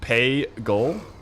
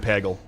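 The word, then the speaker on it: Pagle: It's pronounced pay-gul. I'm sorry. I'm saying Pagel. Like 100 times out of 100.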